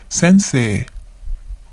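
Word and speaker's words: 先生: Sensei. Sensei. Notice that we have a long vowel at the end. Se. Okay? Sensei.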